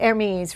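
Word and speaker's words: Hermès: Uh, armes. Is that how you say it? Hermes. Right. You don't pronounce the H.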